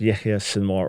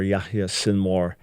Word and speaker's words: Yahya Sinwar: the leader of Hamas, his name is alternately pronounced Yahya Sinwar or Yahya Sinwar, is now dead in a random battle, accidental from the Israeli point of view.